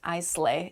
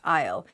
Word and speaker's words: isle: weird word so yes there's an S in the word Isle but it is not pronounced I slay it's pronounced Isle Isle with an A